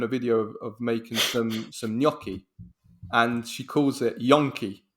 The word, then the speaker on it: gnocchi: He's like, he asked Google how to pronounce gnocchi, and gnocchi said it, and he goes, even an American robot can pronounce it properly. I was dying. It's hilarious. Yeah, this woman was saying yonki because I saw everybody was writing yonki, and